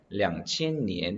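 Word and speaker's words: 两千: 말을 해 주셔야 되요 그래서 2000 이라는 단어 우리가 을 양씨 n 이라고 표현 하기 때문에 량 치엔 이라고 읽어 주셔야 됩니다 자 그리고 월 단위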